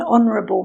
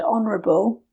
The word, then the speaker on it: honourable: An apple, an envelope, an interesting story, an old woman, an umbrella, an honourable man. Again, note with the last word, honourable, it starts with a vowel sound.